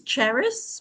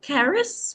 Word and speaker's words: Charis: So, my name is Charis or Charis, whichever pronunciation works.